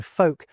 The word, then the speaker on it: folk: We stop pronouncing the T's in words like castle and hasten, and the L's in folk and palm disappear for a lot of people.